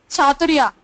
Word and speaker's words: Chathurya: Chaturya. How do you spell it?